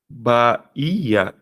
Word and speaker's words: Bahia: Em Bahia, Ba. O Ba aqui, né? O I. Bahia. Por que que o I virou vogal? Porque o I foi pronunciado de forma forte.